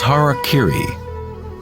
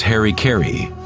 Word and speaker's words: harakiri: In the samurai tradition, one form of ritual suicide, or seppuku, was harakiri, was often mispronounced as harikiri.